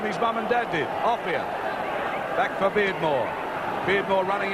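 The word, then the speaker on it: Offiah: They call him a fire because it rhymes with chariots. His real name is Offia.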